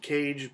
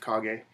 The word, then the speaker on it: Kage: credy G Game festers Quest the legend of KAG I am told that's how you pronounce that at first I was just calling it The Legend of cage but I was told it's the legend of KAG next up I guess The Shining Jewel in